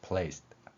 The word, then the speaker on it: placed: placed 보면은 받침으로 시옷과 티읕을 표현했습니다. 이 발음 역시도 마찬가지죠. 받침 두 개가 되어 있을 때 한국인들은 충분히 이 소리의 원리를 이해할 수 있다는 것입니다. placed 이렇게 발음할 수 있고요.